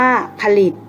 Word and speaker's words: ผลิต: สังเกต กัน นะ คะ เวลา อ่าน จะ อ่าน เหมือน มี หอ หีบ อยู่ ด้วย เช่น ผลิต อ่าน ว่า ผลิต Siam อ่าน ว่า สยาม